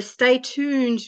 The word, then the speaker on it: Stay Tooned: Her Stay Tooned group of companies, did I pronounce that right?